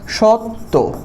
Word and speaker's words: সত্য: জ ফলা দেখতে পাই তাহলে সেটা হয়ে যাবে ত ত যে যেমন আমরা লিখলাম সত্য আমরা কি লিখলাম সত্য সো এটার উচ্চারণটা আমাদের লিখতে হবে হবে সত্য সত্য দুইটা ত হয়ে যাবে একটা হসন্ত দিতে হবে